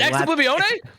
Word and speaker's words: Ex Oblivione: and confirms that I say it correctly. I've asked. Go ahead, say Oblivione. It's Ex Oblivione? It's Latin, my friend.